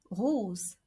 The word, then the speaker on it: rose: two vowels in French we read it and we pronounce it like a zed not like an S okay so we have the word for example Rose which means Rose or